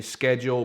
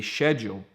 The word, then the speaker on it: schedule: You would say schedule, pronouncing the C, whereas here in the UK, in generally speaking, in these islands, people would say schedule.